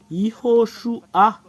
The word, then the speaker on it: Yahoshua: Iho, Shu. Il y a une dernière séparation. Et c'est A qui est à la fin. Iho, Shu, A. Voilà le fait de prononcer ce terme.